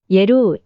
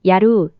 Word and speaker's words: 야율: 야율에 대하여는 거란인들의 말을 한자로 옮겨 적은 음차어이므로 그 정확한 소리는 알 수 없으나 대략 야율의 발음을 예루, 야루, 요루 등과 유사하게 발음한 것으로 보여집니다.